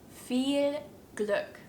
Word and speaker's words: Viel Glück: which means good luck feel Gluck feel good if you're struggling with